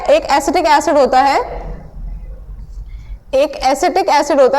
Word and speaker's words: ascetic: अच्छा, एसिटिक की जब बात करते हैं, किसकी बात करते हैं, एसिटिक, एसिटिक, excuse me, the word is given which is acidic and the spelling is ASCETIC, ठीक, स्पेलिंग ध्यान रखना, एसिटिक।